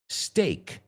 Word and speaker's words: steak: And the second word is steak. Steak rhymes with fake. Steak rhymes with lake.